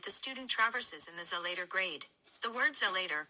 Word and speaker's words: Zelator: the territory that the student traverses in the Zelator grade. The word Zelator, pronounced Zelator, is a corruption of the Latin word zelotes, meaning zealous person or zealot.